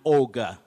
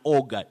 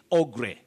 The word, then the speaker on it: ogre: wafula makoka of kakamega you say an ogre an ogre don't say oh gray the problem with some